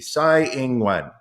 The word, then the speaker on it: Tsai Ing-wen: That would be Hu Yu-yi, that would be Ko Wen-je, that would be Lai Ching-te, and that would be Tsai Ing-wen.